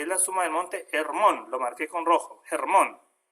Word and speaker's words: Hermón: Hermón, el monte Hermón, que está en la Biblia, se pronuncia Hermón, ¿no?